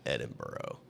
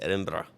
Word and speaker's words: Edinburgh: is how you say it's not edinburgh edinburgh it's edinburgh and brah brah they say where you